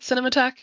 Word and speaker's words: Cinematheque: Pete, is it cinemat?